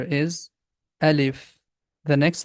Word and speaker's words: alif: It has two syllables, a, lif. The name of this letter is alif.